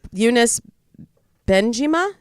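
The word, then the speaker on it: Younes Bendjima: name unis producer Lea help me out here unis been jima am I saying that right yeah you're saying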